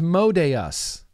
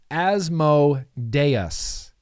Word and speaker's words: Asmodeus: I'm surprised too as modayus is that the correct way to say it asmodeus asmodeus it is it's hot as balls